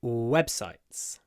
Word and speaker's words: website: websites that's better website as usual when we have a word which is made up of two nouns web and site the stress is on the first one website so we need